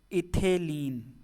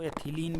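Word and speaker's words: ethylene: इथेलीन, इसको एथिलीन भी बोलते हैं, वो इंग्लिश हिंदी के उच्चारण अलग अलग की वजह से।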